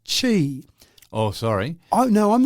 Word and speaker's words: Qi: they introduced Qi now Qi is pronounced Chi oh sorry I no